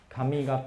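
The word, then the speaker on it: 上方: 所谓上方文化，这个上方念成 Kamigata 哈，上方文化。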